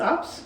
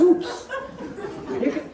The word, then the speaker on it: Oops: It's Ups? No, it's Oops. You can pronounce ooh as ooh, right? That's an ooh, right? You don't say ya. You say you. That's you, not ya. So that's Oops.